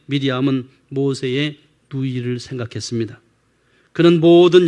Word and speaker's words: 미리암: 있습니다이 마리아의 뜻에 근데 신약에서 마리아라고 부르는 이름은 원래 히브리 발음으로 미디엄입니다 근데 헬라식 이름은 마리아이고 영어식 이름은 메리입니다 그리고 중국어와 한국식 발음이 마리아입니다 히브리인들에게 미리암은 모세의 누이를 생각했습니다 그는